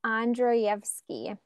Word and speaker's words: Andreevsky: a tricky one um it is pronounced andreevsky it's a Russian last name oh that's wonderful so